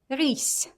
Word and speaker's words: рысь: Can you hear s sound? Let's compare. S, s, s, s. When I pronounce s, it's a little bit softer. How to make from s, s? I just need to put my tongue near my low front teeth. S, s, s, s. And that's рысь. Семья.